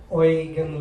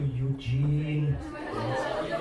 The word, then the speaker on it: Eugen: The pronunciation is a bit different because it's German. The English take our stuff and they change it. Yeah, like they make Michael to Michael. They change Eugen to Eugene, which I don't like at all.